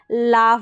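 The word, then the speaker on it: laugh: हो गया ए यू जीी एच का मैंने उच्चारण बताया दो तरीके से ओ या आफ तो यहां पर आफ है तो ये लाफ बन गया फिर आगे बढ़ेंगे तो ए यू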